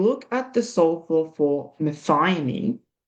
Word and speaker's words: methionine: Methionine.